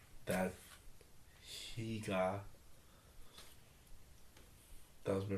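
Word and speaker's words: hygge: I have the pronunciation right here. It's hige. Because it's like I said, it's Danish.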